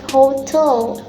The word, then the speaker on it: hotel: For noun, the word hotel, syllable hotel, and stress placed in the last syllable, which is tel. So it's pronounced like hotel.